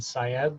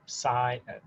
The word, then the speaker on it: Syed: Moin is like coin with an M, and Syed like psychology educator, Syed.